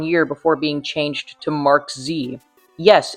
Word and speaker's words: MKZ: before being changed to Mark Z. Yes, it's pronounced Mark Z, not MKZ.